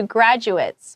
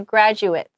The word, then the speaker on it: graduate: uh caps off to graduates which is yeah a little different than like graduation right so graduates right and if it's a verb we say graduate right and now it's